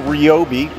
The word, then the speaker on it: Ryobi: a hybrid light you got the two tool Ryobi that is how you say it combo kit